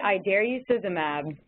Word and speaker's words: idarucizumab: I say idarucizumab. Like I dare you.